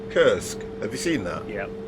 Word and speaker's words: Kursk: Is it pronounced Krisk? Kursk.